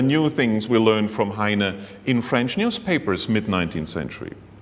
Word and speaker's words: Heine: It is not Heinrich Heine, but it is Heinrich Heine, very Frenchly pronounced, so he became part of the French culture.